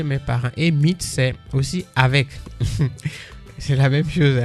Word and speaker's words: aus: Il y a la préposition aus. Aus qui s'écrit A-U-S.